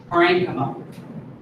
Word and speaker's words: parenchyma: like chi or chy it's pronounced with like a hard k that's just like a